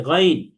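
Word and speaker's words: غين: তাহলে আমরা এটাকে গাইন পড়া যাবে না। দেখেন, অনেকে এটাকে গাইন বলে, গাইন। গাইন বললে আমার মুখ চ্যাপ্টা করতে হয়, কিন্তু গইনের বৈশিষ্ট্য হচ্ছে মুখ গোল করতে হবে। তার মানে আমি যখন উচ্চারণ করি, তখন কণ্ঠনালীর শেষ ভাগ থেকে এইভাবে উচ্চারণ করব, গইন, গইন, নট গাইন। আইন। গাইন বলা যাবে না, বলতে হবে গইন।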